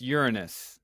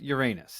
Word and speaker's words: Uranus: And it's not even pronounced Uranus. I've Googled what's the correct pronunciation, and it is, in fact, Uranus.